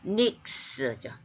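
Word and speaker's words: νύξ: 그러니까 후토스 엘텐 브로스 아웃돈 그 다음에 닉도스 닉도스는 속격 여성 단수로서 그 기본형은 닉스죠. 닉스 이게 윽스 발음이 나요.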